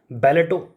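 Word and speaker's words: ballet: अब आ गया बी, बैलेटो, बैले dance होता है, ठीक है, इसमें टी साइलेंट होता है, बैले डांस करते हैं, उसके साथ ऑब्सेशन।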